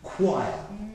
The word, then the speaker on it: choir: Choir, choir, choir. Notice the unbelievable pronunciation, yeah?